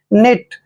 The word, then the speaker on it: knit: Next word देखिए KNIT, यहाँ पर भी एन से पहले के आया है, के का उच्चारण हमने नहीं करना है। एन को न पढ़ते हैं, आई को छोटी की मात्रा पढ़ेंगे और टी को टे। निट, निट मीन्स होता है बुनना।